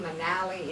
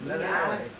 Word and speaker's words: Manale: Was it I-E or Manale. Well, the I is pronounced E, in Latin.